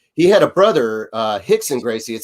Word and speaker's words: Rickson: so yeah with uh portuguese r at the beginning of the name is pronounced with a a hard h so he had a brother uh hixon gracie it spelled rickson